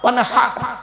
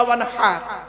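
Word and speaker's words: وانحر: কাউসার ফসল্লি লিরব্বিকা ওয়ানহার ওয়ানহার এই গলার ভিতর থেকে হেটা উচ্চারণ করবেন ফসল্লি লিরব্বিকা ওয়ানহার এর মানে হচ্ছে নবী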